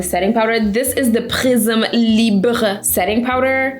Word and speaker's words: Prisme Libre: This is the Prisme Libre setting powder. I looked up how to say it in French, and that's how you say it.